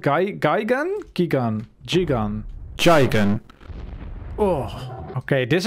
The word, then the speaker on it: Gigan: same right gigan gigan british is geigen okay it's guy again i don't know this